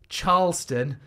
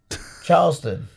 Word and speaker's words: Charleston: said by the way you pronounce the cha like chicken not like Charlotte being a Fulham supporter